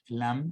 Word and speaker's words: lamb: to separate the lamb lamb you don't pronounce it be a lamb and to